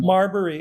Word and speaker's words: Marbury: Wait, is it pronounced Marberry or Murberry? I thought it was Murberry versus Madison. Marbury. M A R I got a five on my AP US history test.